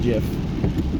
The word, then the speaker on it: GIF: possibilities in a two-second jiff and yes I know it's spelled gif the creator of the format said it's pronounced jiff so I don't like